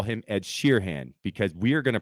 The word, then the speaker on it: Sheeran: sharon it's not sharon ted sharon it's ed sheeran but i call him ed sheerhan because we are going to pronounce things as they're spelled otherwise don't spell